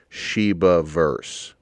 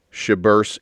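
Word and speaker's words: Shibaverse: that you could possibly shiba verse it's three syllables it sounds perfect sheba verse repeat after me sheba verse shabbers is just ridiculous now let's move on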